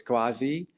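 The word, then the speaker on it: CUAHSI: I proved I to put the pronunciation of there of the acronym out there so it's quasi it stands for the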